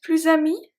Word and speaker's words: plus amis: with a vowel, we are going to pronounce it as a Z. And it's mostly when it's the negation. Ne plus followed by something starting with vowel.